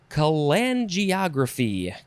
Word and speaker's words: cholangiography: It is cholangiography. Cholangiography. It is spelled cholangiography.